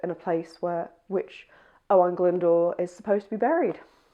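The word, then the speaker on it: Owain Glyndŵr: So I say Owen Glendor, not Owen Glen Glendau.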